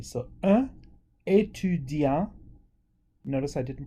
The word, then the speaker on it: étudiant: If it's female, un étudiante. So because we're adding another vowel at the end with the female form, we can pronounce the T. So un étudiant.